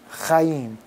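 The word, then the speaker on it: חיים: Chaim is spelled simply like this. It's a chet yod yod mim. Chaim.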